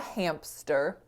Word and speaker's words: hamster: place well my friends it all has to do with co-articulation so when we're saying hamster right between that m and s our vocal folds go from vibrating to no longer vibrating because um the m is voiced and thus the s sound is not voiced and so it's conceivable